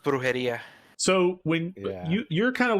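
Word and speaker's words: brujería: It's pronounced brujeria.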